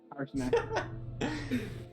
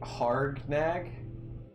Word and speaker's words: Harshnag: Harshnag. Harshnag? Yeah. How you Harshnag. Harsh and then nag. What have I been? Yeah, what have I been saying? Hard nag.